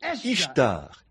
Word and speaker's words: Ishtar: Et il avait une femme, le dieu lune, la déesse Ishtar, I-S-H-T-A-R. Ishtar, ça se prononce aussi A-S-T-A-R-T-E accent aigu.